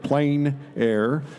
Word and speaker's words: plein air: or the outdoors the French say plenty others pronounced at plein air but no matter how you say it it's